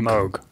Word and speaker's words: Moog: Yeah, but spelled Moog, but said pronounced Moog.